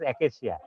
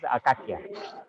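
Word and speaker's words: acacia: it's Arabic name for now we are pronouncing it as aesia AA CIA but originally that gum arabic and this Arabic babul had been pronounced by Arabic people as akaka and the fruits of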